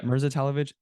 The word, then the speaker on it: Mirza Talovic: Is that how you pronounce Yeah, it? yeah, Talovic? yeah. Mirza Talovic, MirzaTalovic.